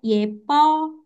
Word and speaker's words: 예뻐요: Cinta, cinta, ini Jin, ini C dan Aca, ini Y, B-nya 2 jadi P, Yepo, Yo.